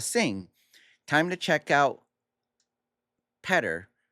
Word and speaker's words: Peter: Time to check out Peter pronounced as better but with a P.